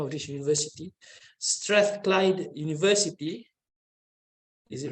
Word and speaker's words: Strathclyde: With a PhD in architecture from, I'm trying to pronounce the name of this university, Strathclyde University.